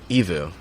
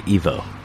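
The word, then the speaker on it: EVOO: Or was it Evo? Evu. Yeah. Evu. Yeah, I think so. Okay. Yeah. Because a lot of people say Evo.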